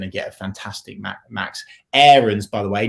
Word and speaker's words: Aarons: He was like, by the way, it's not AARONS, it's AARONS.